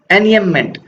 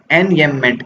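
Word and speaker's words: enjambment: I received love where once I received love, तो इस device को क्या बोलते हैं, एनयममेंट। ये जे साइलेंट है, पढ़ने में नहीं आता।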